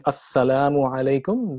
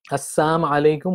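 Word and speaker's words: السلام عليكم: meaning so for example instead of saying assalamu alaykum they would say things like a sum alaykum Assam alaykum without the lung and so when we pray when we pronounce it a semi alaykum without the now and the the lamb sound in it it changes the meaning it becomes death on to you instead of peace be on to you okay and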